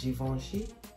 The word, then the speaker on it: Givenchy: The last one is from Givenchy, or some people pronounce it Givenchy, but check it out.